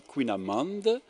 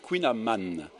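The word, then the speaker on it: kouign-amann: le kouign aman alors il ya deux prononciation dans le finistère on dit quinn amende et dans le morbihan audit kouign amann la traduction du mot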